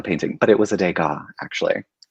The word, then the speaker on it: Degas: but it was a degas actually at least you pronounced it correctly i figured you would have pronounced it dagus i mean i'm not